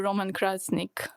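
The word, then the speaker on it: Roman Krznaric: as inspired by Tinker Roman Krasnik. Is that how you pronounce his name? Does anybody know? You pronounced it perfectly with Balkan English.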